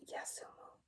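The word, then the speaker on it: 休む: It is written like that, and is pronounced Yasumu by itself and Q in compounds.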